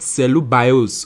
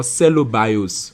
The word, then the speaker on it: cellobiose: close to mortals but it's called cellular bios or cellobiose or cell abuse anyhow you want to pronounce it this is spelling anyway